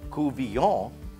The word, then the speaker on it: Couvillion: term cool v o with a v it's pronounced kuvyon uh is simply a cajun fish stew now